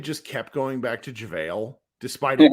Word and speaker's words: JaVale: Do you pronounce his name? I would say it's JaVale. JaVale.